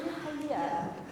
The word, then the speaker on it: Hagia: Ini bacanya Hagia.